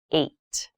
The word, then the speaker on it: eight: is the number h this has an interesting spelling it's pronounced eight eight is a lucky number